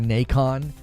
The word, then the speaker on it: Nacon: Uh, publisher is Nackon or Nikon. N A C O N. I I'm I'm assuming you pronounce that like Nikon.